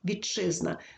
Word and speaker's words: вітчизна: льотчик чи подовжений чьорчик Така сама ситуація у слові вітчизна Т під впливом шиплячого вимовляється як шиплячий чи і тому слові вітчизна вітчизна вимовляємо чи подовжений Якщо ж у нас